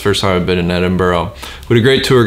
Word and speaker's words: Edinburgh: Well, first of all, it's Edinburgh, all right?